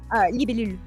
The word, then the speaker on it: libellule: Libellule.